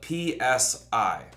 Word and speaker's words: psi: a silent P, because we don't pronounce the Greek letter psi with the P, even though it's there.